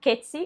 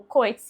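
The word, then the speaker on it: Coetzee: E eu fiz a leitura de deshonra do Kets ou Coz, eu vi tanto nessas duas pronúncias, que é da África do Sul.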